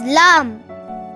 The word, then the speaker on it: ل: how to pronounce lamb to produce lamb sound the front portion of the tongue will touch the back side of the upper teeth Lam L the words